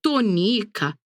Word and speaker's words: Tonica: diferente perfeitamente confirmou Quim no nome de Dona tonica a sílaba tônica é NI e na palavra que eu disse a sílaba tônica é o to e na palavra Pedrinho